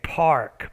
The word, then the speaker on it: park: were saying pax okay park park so you're saying pack instead of park so be careful of your medial r sound so you need to